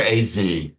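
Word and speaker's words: Azaiez: With Dr. Azier, Dr. AZ. That's how you should pronounce it.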